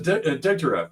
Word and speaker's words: Degtyarev: You want to see the way it's pronounced? There it is. Oh, it's a Degtyarev.